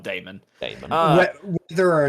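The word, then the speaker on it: Daemon: Demon Slayer or Demon Slayer? It is spelt D-A-E. Okay. Yeah. Yeah, it's spelled Damon. Damon.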